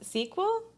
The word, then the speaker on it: SQL: table but SQL s-u-s your highs and balls pronounce sequel oh as soon as I learned how to